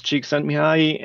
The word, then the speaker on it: Csikszentmihalyi: Yes, so if I can claim any fame, I can pronounce Csikszentmihalyi and spell it.